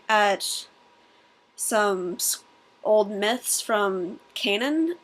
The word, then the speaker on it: Canaan: We were looking at some old myths from Canaan, or Canaan, as he's like, you must say it properly.